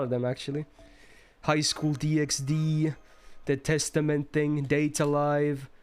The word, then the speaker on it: DxD: harem as well no no you don't pronounce the x okay what does the